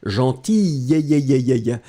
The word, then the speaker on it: gentille: Put double L-E, d'accord? And then you pronounce it obviously slightly differently. Gentille, elle est gentille, d'accord?